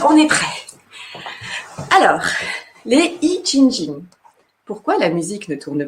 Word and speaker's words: Yijinjing: Alors, les I Ching Ching.